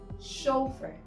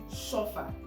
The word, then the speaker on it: chauffeur: And the next one is chauffeer. Again, chauffeer, not chauffeur. Chauffeur when it is similar to the word sofa.